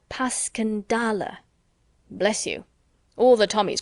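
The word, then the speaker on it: Passchendaele: was so strange to hear you call it passionale why if I may ask because that's the way I pronounce it to myself but I looked it up and it's more like pasala bless you all the tommies call it passendale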